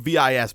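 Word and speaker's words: Vis: Now, V is spelled V-I-S, but I believe it's pronounced V, is basically aspects, but in your wand.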